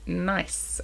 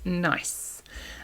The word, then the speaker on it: gneiss: It is spelled with a G, a silent G. So G N E I S S. Nice.